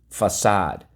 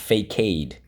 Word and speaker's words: facade: the silent e but we go fa sod facade we retain the sea and it is not fake aid okay otherwise it would have been too confusing it comes from the